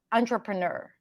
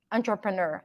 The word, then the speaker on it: entrepreneur: break it down uh this word is derived from French so words that starts with an e n they actually they don't have the S sound but an ah on on like turn it on on TR a right it's a long word but it's not as intimidating as you think and then the final part is the Noor poor Fury sound but a lot of people can just pronounce it as a stir entrepreneur entrepreneur I think